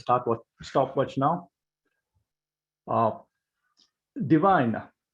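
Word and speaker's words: Divihn: with stopwatch now uh divine you will see the spelling as d-i-v-i-h-n we pronounce it as divine we've been in business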